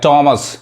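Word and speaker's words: Thames: थ ना पढ़ा के टेम्स पढ़ाए कागा बहुत लोग इसको थम्स कहते हैं क्या पढ़ाए का टेम्स ये टेम्स क्या है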